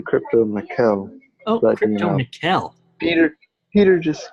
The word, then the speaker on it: CryptoMykel: It's actually CryptoMykel.